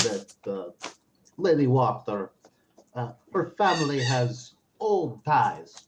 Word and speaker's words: Wachter: So you said Fiona Water? Wachter, I'm going to spell that out for you. Wachter. You got it right.